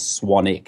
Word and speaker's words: Swanwick: But the the correct pronunciation is Swanic. It's the silent W.